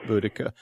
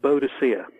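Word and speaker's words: Boudica: uh Queen who is how do you say her name budika buddika she used to be called bodhia but that was a Victorian mistranslation when did when is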